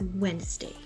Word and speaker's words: Wednesday: rhythm of the word say it as Wednesday without pausing between the the two syllables and the secret again is to not pronounce every letter Wednesday Wednesday and